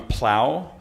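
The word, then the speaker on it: Plough: Illinois, Bree Feeney from Plow, which is spelled P-L-O-V-G-H, but pronounced P-L-O-W, if you would.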